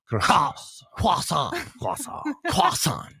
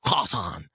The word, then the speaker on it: croissant: It's often pronounced croissant. But no, it's quason. I know. It's tough. It's It's an awesome name to say. I I'll be honest. Quasan.